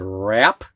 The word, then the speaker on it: wrap: And these W's are followed by an R. You can hear the R, but not the W. So we got wrap, right, wrote, wrong, wreck, wreath, like a Christmas wreath, ring.